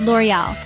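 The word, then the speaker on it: L'Oréal: got them down pat first up we had L'Oreal it's not L'Oreal or lurel it's L'Oreal with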